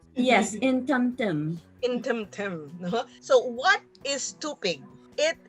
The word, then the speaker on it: Intemtem: Intemtem? Yes, Intemtem.